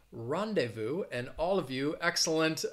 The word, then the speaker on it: rendezvous: takayo angela great job rendezvous is the word with the silent letter i think before i did a lesson on advanced words with silent letters this was one of them and i chose this word because it has a silent z you don't really find